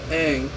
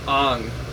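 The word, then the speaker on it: Aang: the main character instead of being named a Ang they pronounce the name Ang just molet over in your mind for a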